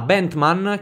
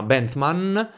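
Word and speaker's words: Bethmann: ormai considerata inevitabile Ma bentham che ho pronunciato prima mi sembra un paio di volte ben tam come Jeremy bentham il filosofo però no si chiama bandman e Guglielmo II erano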